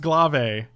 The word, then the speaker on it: glaive: ouch correct correct correct it's pronounced glave this is the old